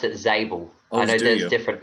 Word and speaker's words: Zabel: would just uh correct you that I I pronounce it zel I know there's different pronunciations um some people pronounce it zabel uh I'm angelized it we just pronounce it